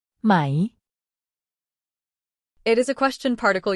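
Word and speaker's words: ไหม: natural and straightforward way it's pronounced with a rising tone meaning your voice should go up towards the end of the word it's easy to mix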